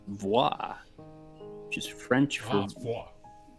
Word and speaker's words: voix: But, I was expecting vo because, like, faux, but that's FAUX, and this is VAIX, so voix.